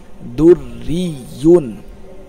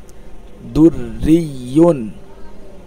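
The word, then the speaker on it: دُرِّيٌّ: এইভাবে উচ্চারণটা হবে দুররিয়ুন। আবার বলেন দুররিয়ুন, দুররিয়ুন।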